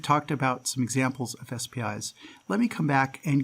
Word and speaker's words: SPI: definition of what an spi really is first of all you've noticed that i'm pronouncing this spi rather than saying spy i recommend you use spi instead of spy and the reason for